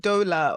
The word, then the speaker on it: Dollar: They say, is it dollar or is it, dollar? no, It's like Dollar. dollar, like the money.